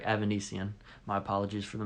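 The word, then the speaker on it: Avanesyan: I got it right, Evanesian. My apologies for the mispronouncing it a little earlier.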